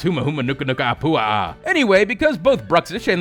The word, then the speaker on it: humuhumunukunukuapua'a: until let you know that I could properly pronounce humuhumunukunukuapua'a anyway because both Brooks - Andy who moment